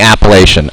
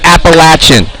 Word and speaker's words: Appalachian: Don't leave this place saying Appalachian. Please don't do it. Just don't do it. Nobody says it there. It's Appalachian. Appalachian.